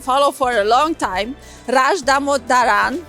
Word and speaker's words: Dhamodharan: for a long time, Dhamodharan. I'm pronouncing it correctly. You're doing very good.